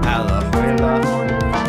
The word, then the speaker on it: Alajuela: Alajuela, that's my name.